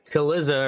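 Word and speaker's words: Cillizza: the point with Chris Kaliza, or however the fuck you pronounce his name. Looks like Godzilla, but with a C.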